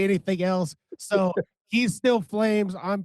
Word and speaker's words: PFLAMES: Flames, forget the P, everybody. The P is silent.